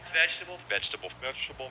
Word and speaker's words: vegetable: You'll really feel that 3-syllable rhythm. vegetable. Vegetable. Vegetable. Vegetable. Vegetable. Vegetable. Vegetables. Vegetables. Vegetable. Vegetable. Vegetable, vegetable, Vegetable.